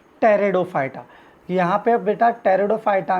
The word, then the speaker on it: Pteridophyta: टेरिडोफाइटा यहां पर बेटा टेरिडोफाइटा हुए दो पीस साइलेंट होता है बच्चे से इफेक्टिव फॉर